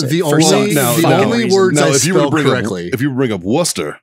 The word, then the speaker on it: Worcester: I'm sure I spelled it wrong, but I know there's a C in it and you don't pronounce it. If you bring up Worcester, it's the same.